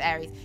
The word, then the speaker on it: Aeris: up, in the West, she was Ares. That's how it was spelt in the game. There's some things with the pronunciation, but it's Aries.